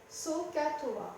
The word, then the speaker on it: SOHCAHTOA: avec cette formule magique SOHCAHTOA. SOHCAHTOA, avec 3 syllabes, S-O-H, première syllabe, C-A-H, deuxième syllabe, T-O-A, troisième syllabe.